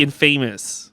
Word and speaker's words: infamous: do you say well infamous is a tricky one infamous it's supposed to be infamous because i just should